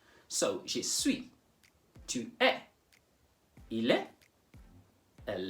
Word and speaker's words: suis: Je suis ends in an S. I could have said je suis. But in French, you don't pronounce, in most cases, you don't pronounce the final consonant. So, je suis, tu es, il est, elle est.